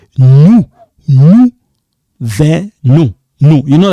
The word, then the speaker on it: nous venons: Nous venons. Silent. You don't pronounce this S. Nous venons.